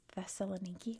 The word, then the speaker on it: Thessaloniki: So I had to double triple check in American English it is theelaniki.